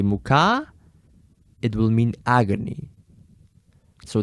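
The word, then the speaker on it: мука: Muka, you put the stress on the first syllable. And if you put the stress on the first syllable, it will mean floor. The one to eat. Not the one that you stand on. Whereas if you actually put the stress at the end and you say muka, you still have the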